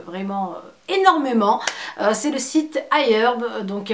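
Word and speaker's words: iHerb: énormément c'est le site ailleurs donc il y a beaucoup de bien se passer c'est quoi c'est ailleurs c'est heure c'est donc ailleurs ça s'écrit i.herb c'est un site en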